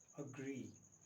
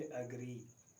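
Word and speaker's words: agree: तो ये लास्ट में आ गया, तो इसको भी हाफ प्रोनाउंस करेंगे अग्री, ना कि एग्री. Wrong. The right way इज़ अग्री. This is elite.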